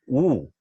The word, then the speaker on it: eau: It is written EAU, but it is pronounced as oo.